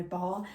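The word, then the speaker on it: barre: I tend to, if I'm teaching, I tend to use the wall as my bar, and it's spelled B-A-R-R-E.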